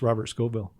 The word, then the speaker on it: Scovill: It's just Robert Scovill. And that is spelled as it sounds, Scovill? Yeah, no E.